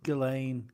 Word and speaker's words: Ghislaine: You only need him, or forgive me if I pronounce the name wrong, Ghislaine. I think it's Ghislaine. Elaine, you only need one